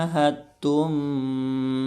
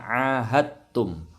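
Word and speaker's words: عاهدتم: bara'atum minallahi wa rasulihi ilal ladzina ahadtum minal musyrikin. Hati-hati, ini bacanya ahadtum. Dalnya melebur ke huruf ta, jadi tidak mantul.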